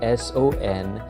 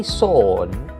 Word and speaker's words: son: But in the English language, it can be confusing because even if the word has an O, it's actually pronounced as a U sound, just like sun.